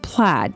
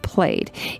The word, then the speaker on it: plaid: It looks like the word plaid, but trust me, it's pronounced plaid.